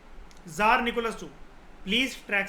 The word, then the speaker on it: tsar: थी, जिसका नाम था जरीना एलेक्जेंड्रा। जैसे हम इसको अगर कह रहे हैं जार, TSAR को हमारे मुंह से कैसी प्रोनाउंसिएशन निकल रही है? जेड, है ना, जार।